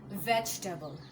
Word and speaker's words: vegetable: l e and that isable but the correct pronunciation should be vegetable vable vegetable okay vegetable simply I don't feel like singing